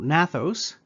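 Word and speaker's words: gnathos: So, nathos, it's got a silent G at the beginning, means jaw, and A means without.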